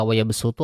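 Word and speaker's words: وَيَبْسُطُ: Nah, jadi teman-teman ketika membacakan Albaqarah ayat 245 di kata wayabsu tuh ada di yang paling bawah tuh, maka dia dibacakannya dengan huruf sin, bukan dengan huruf shad.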